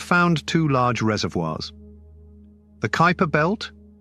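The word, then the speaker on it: Kuiper: two large reservoirs the Kyper belt Kyper rhymes with Piper which is beyond Neptune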